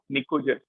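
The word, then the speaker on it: pnicogen: This is known as निकोजन। Clear? ये भी आप याद रखें, दिस इज नोन एज निकोजन। इसकी स्पेलिंग ध्यान से देखें, पी साइलेंट है।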